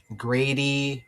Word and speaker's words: Grady: Grady rhymes with Brady. Like Tom Brady, retired, probably the GOAT of the NFL. Grady like Brady.